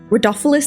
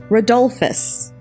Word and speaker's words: Rodolphus: Rodolphus, there it is. Oh my God. Rodolphus. I've been saying Rodolphus this whole time, but it's Rodolphus.